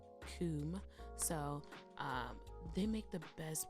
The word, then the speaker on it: Kum: There's this German brand, for what I know, they just make pencil sharpeners, but it's called Coom, and it's spelled K-U-M. Coom.